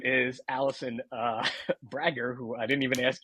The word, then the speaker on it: Brager: It's it's a long a but it's okay.